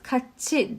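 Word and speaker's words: 같이: Yine burada da kati diye okumuyoruz. Katçi diye okuyoruz.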